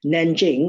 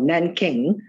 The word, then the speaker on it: Nanjing: the first one is called the treaty of nanjing or nan king different uh alliteration the pronunciation is slightly different after the first opium